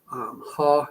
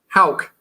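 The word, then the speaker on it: Haugh: You may have a good case for Haw. Is that how you say his name? From Florida, Thomas Haw. Yeah. Hauk. That's it. Hauk. And Alex Condon. I think we should just mispronounce it. I'm going to call him Haw from now on. Hoff. Haw. Like cough.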